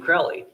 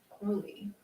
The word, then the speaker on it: Crowley: Alistair pronounced his name Crowley. He said, those who find me foully call me Crowley, and those who find me holy call me Crowley.